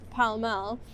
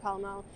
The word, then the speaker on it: Pall Mall: And it's named after the sport that they played in like the 17th century, Pall Mall, which I think might have been like pronounced Pele Mele at some point.